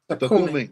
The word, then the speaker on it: Tocumen: He said he have a house in Tocumen. Am I pronouncing it right? Tocumen? Takumi. Takumi. Takumi, okay.